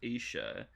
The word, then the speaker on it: Isha: So, Isha, or Isha, pronounced Isha, is woman in Hebrew, or Eve's second name, of Adam and Eve fame, right?